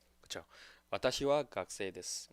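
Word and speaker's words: 学生: 와타시와 각세이 데스. 그래서 각세이라는 말이 뭐 이게 제대로 읽으면 일본어를 그대로 읽으면 가쿠세이죠.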